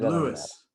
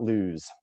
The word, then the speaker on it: Lewes: the atlantic ocean and you said lewis it is louis it's not luz it is louis and